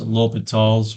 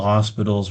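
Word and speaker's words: L'Hôpital: X over G Prime of x and it's pronounced l'hopital's rule if you want to piss people off you can say the hospital's rule or something like that but this is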